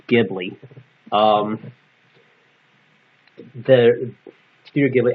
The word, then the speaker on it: Ghibli: and yes it's pronounced Ghibli um The Studio Ghibli actually put the H in their Studio name so that we speak